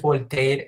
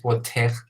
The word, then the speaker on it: Voltaire: O que te andan corrigiendo cuando dices Voltaire y te dicen, no es Voltaire, es Voltaire.